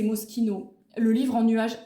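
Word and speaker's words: Moschino: Alors, moi je disais Mochino mais on dit que c'est Mosquino.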